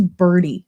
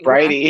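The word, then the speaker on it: Bridey: of the book that i was pronouncing her name wrong i thought it was birdie like i literally thought i was birdie listening to the audiobook like how do you pronounce it i'm confused it's brighty yeah right okay i realized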